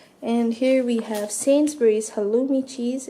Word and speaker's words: halloumi: And here we have Sainsbury's halloumi cheese. It's actually pronounced halloumi cheese.